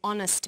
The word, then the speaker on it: honest: So we say a happy man, but an honest man. The H is not pronounced. So honest sounds like it starts with a vow.